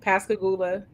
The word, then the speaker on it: Pascagoula: I've seen it on a sign, so that's how you say it, Pascagoula. Pascagoula.